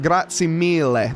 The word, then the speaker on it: grazie mille: Thank you, grazie mille, of course, and I said it right, grazie mille. There we go. That's probably better on the le. I gotta get that pronunciation better.